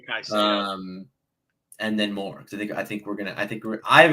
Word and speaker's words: Caicedo: I always forget how to pronounce his name. Saedo. I've said Caicedo. Yeah. I say Caicedo.